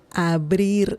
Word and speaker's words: abrir: Abrir, brie. Just like the cheese brie, but a little different pronunciation.